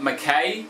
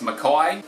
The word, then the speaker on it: Mackay: few I'd like to clear up that people pronounce wrong all the time including Australians themselves it's not Mackay it's McCoy it's not Mel born its Melbourne it's not